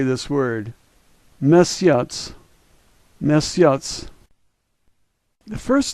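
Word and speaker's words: месяц: TS sound like tsunami let's say this word miss yachts miss yachts the first letter is somewhat familiar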